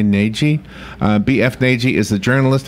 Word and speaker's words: Nagy: Oh, most people just say Nagy with the hard G and the hard A. Okay, and that's right? Nagy?